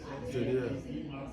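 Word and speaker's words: Eyre: You will love Jane. It's spelled E Y R E. Jer.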